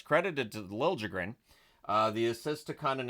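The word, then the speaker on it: Liljegren: sound right but that's how he wants it pronounced so it's lren uh Rangers press to respond there's a press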